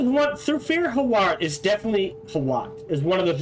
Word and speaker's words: Hawat: That is what Thufir Hawat is definitely Hawat.